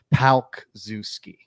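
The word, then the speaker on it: Palczewski: It's like Pal, like your friend, Palk Zuski.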